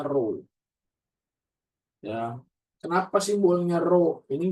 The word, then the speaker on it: rho: Massa jenis itu simbolnya rho. Dibacanya rho.